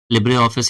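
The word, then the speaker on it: LibreOffice: ठीक है, लिब्रे ऑफिस ही pronunciation है इसका भी, जैसे पावर पॉइंट हो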